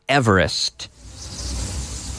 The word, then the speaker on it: Everest: Now we don't say eber. No, we say ever. Mount Everest. And here we are. Where are we? We're on Mount Everest.